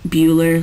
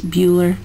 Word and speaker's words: Bueller: And by the way, it's pronounced Bueller, like Ferris Bueller.